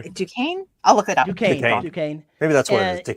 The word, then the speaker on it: Duquesne: I think I pronounced that right. DeQueen. It looks like it's all spelled like Duquesne, but it looks like, I guess it sounds like DeQueen.